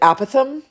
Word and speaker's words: apothem: They have apothems right um I've heard some people pronounce it apithem which sounds very British to me. Um so I've always called it an apothems but if you want